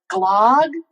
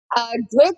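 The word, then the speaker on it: gløgg: There's an what's on the umlaut above the O in the first one, which makes this gluk.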